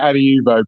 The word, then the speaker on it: Adiuvo: Is it Adiuvo? No? We say it Adiuvo. People say it many different ways.